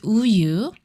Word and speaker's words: 우유: Here doesn't make a sound. It just gives a place for the vowel to stand.